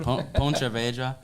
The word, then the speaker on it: Pontevedra: I don't know how to pronounce it. Pontevedra.